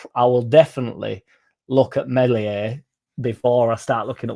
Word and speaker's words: Meslier: With Meslier, Silent S on the way out, potentially to Fenerbahce, does that mean there's a new keeper coming in?